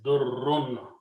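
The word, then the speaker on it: ضُرّ: Two Ras can be written with a Shadda and pronounced as Durrun.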